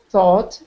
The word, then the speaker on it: though: plow through the winters thought he were well okay that's not thought there's no t on the end it's pronounced differently if there's no t on the end that's low though as though he were